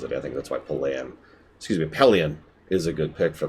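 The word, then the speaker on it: Pellaeon: And yeah, I actually like Pelion, I think is apparently how that's supposed to be pronounced.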